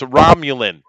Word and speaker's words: Romulan: It wasn't Picard at all, and it's pronounced Romulan. You bastard. Oh, Romulan.